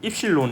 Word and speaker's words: 입실론: 포기합니다 입시 5 예 또 입실 입실론 이라고 읽어요 이 디오 자체는 근데